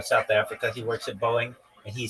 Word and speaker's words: Boeing: Remember I said like um Amazon will go to B uh Prime Boeing will just be boing just boing one syllable boing like boing boing boing boing boing.